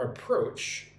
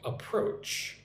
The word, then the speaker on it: approach: I really liked your approach to this project. I really liked your approach to this project. Approach. Approach. Put the emphasis on the second syllable. Approach. Make sure you get the the ch sound.